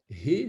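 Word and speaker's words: ה: He, c'est un souffle qu'il faut prononcer, un souffle.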